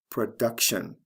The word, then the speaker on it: production: then of course production with this word the stress is right before the t i o n ending the second from the last syllable let's look at some